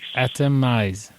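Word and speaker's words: até mais: Atomise. Very good. Excellent. I'm kind of picturing like um you know like chemistry and and breaking things down to the atoms. Atomize.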